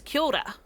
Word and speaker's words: kia ora: And that can sound like I'm just saying ki, ora, or ora. But it's actually K-I-A-O-R-A. Kia ora. Kia ora. See how that changes as you mush it all together?